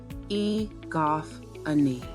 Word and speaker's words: egophony: Pronunciation. Egophony.